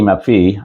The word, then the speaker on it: Maffei: name properly um it's m-a-f-f-e-i but evidently it's pronounced map B map V so Mickey Mafi um awesome guitar player and he's just released